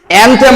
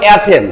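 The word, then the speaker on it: anthem: অ্যানথেম বলবো না, আমরা বলবো অ্যাথেন। কি বলবো? অ্যাথেন। কি উচ্চারণ বলবো? অ্যাথেন, অ্যাথেন, ঠিক আছে? এন মনে করো নাই, ওটা হচ্ছে সাইলেন্ট লেটার, ঠিক আছে?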